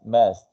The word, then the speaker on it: must: Okay, the pronunciation of must is must.